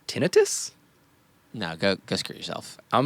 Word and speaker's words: tinnitus: I was listening to a podcast with an audiologist, and they said it is pronounced tinnitus.